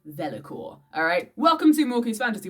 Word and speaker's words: vellichor: Alright, thanks to a quick Google search, I've discovered it is actually pronounced Vellichor.